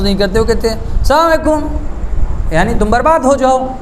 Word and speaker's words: السلام علیکم: انہوں نے کہا کہ ہاں السلام علیکم یہ صحیح تلفظ ہے، السلام علیکم، السلام علیکم،